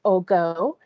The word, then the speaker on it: Ogo: pronouncing your name correctly am i saying it correctly not quite it's ogo thank you thank you